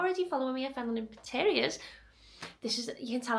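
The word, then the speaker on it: Fenlon Interiors: So if you're not already following me at fenloninteriors, this is, you can tell I'm not well, I've got brain like fog.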